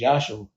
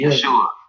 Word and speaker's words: Yeshua: And even with that, you know, the proper pronunciation of the name Jesus is Yahshua. Jesus is the Yeshua. Jesus is the European interpretation of the name.